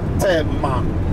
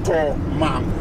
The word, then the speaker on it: Tomam: The original name of that town is not Temam. It's called Tomam. But when the Europeans came, they could not pronounce the word To. They say Te. Instead of To, they say Te because of their tonation.